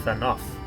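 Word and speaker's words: Fanow: Let us return to Fanoff then, and discuss the coming expedition. Oh, it's pronounced Fanoff.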